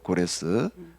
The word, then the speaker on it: 고레스: 바빌로니아가 멸망을 멸망시킨 사람이 그 고레스 어 뭐 이제 영어식 발음으로 하면 사이러스 이렇게 얘기를 하는데이 사람이에 바벨론을 멸망시키는